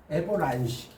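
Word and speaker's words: avalanche: 만약에 산사태, 에버란시, 우리 에버란시라고 그래요. 어려운 단어를 알아주세요. 산사태인데 이렇게 발음돼.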